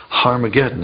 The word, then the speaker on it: Harmageddon: aspirant at the beginning meaning it's pronounced with an H so it originally was harmageddon and you can get